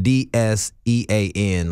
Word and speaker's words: Dsean: So it's spelled D-S-E-A-N, like Dsean.